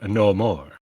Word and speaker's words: Namor: It was no more. Namor? Like no more.